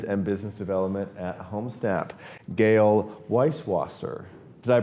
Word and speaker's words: Gayle Weiswasser: I'm Findlay-Shirras, and today we have the pleasure of sitting down with the SVP for Communications and Business Development at HomeSnap, Gayle Weiswasser. Did I pronounce that correctly?